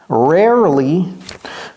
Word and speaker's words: rarely: pas RAR vous voyez il y a un e avant le l combi même on prononce pas ce E dit pas c'est rarely ou qu'est-ce qu'il y